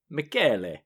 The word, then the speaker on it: Michele: But she provided a clip to the Italian pronunciation of what looks like the spelling of Michelle. Michelle, yeah. And it's pronounced Michele.